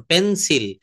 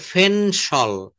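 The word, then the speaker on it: pencil: করছেন, তো তারা দেখবেন নেটিভ স্পিকাররা কখনো পেন্সিল বলেন, এটা তো আমাদের বাঙালিয়ানা একটা উচ্চারণ, পেন্সিল, এটা বলতে হবে ফেনসল, ফেনসল। এই পিটাকে ফ বলতে হবে, পিটাকে ফ বলতে হবে।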